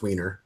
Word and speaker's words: Weiner: on their Wier the one about uh Anthony weer yes not the weer dog film isn't it weer dog yeah no it's it's pronounced weener okay believe it or not it really is pronounce weiner really uh ironically enough yes and that was